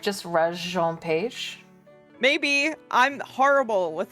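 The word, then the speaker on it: Regé-Jean Page: it hold on um we are looking at how to pronounce reg Jean it's reg Jean page reg Jean page okay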